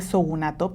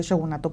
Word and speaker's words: shogunato: el shogunato o bueno, en español se pronuncia realmente sogunato, pero bueno, vamos a decirle shogunato porque así se escribe y dice, "Bueno, ya estoy aquí."